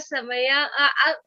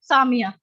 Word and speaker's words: Samia: see video of Zeba, Samaya. Ma'am, could you please tell me how to pronounce your name? Samia. Samia. Okay, I'm really sorry. I No problem. pronounced it wrong for 2-3 times.